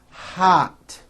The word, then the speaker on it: hot: Did you know that there are words in English that are spelled with an O but are pronounced as ah?